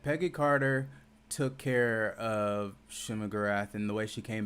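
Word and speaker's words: Shuma-Gorath: Yeah, Shuma Gorath.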